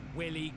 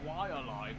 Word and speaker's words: Waialae: Thirdly, I can't think of a better ad for a game called Willy Golf. Actually, I think you'll find that it's pronounced Waialae Golf, based on the real-life golf club in East Honolulu, Hawaii.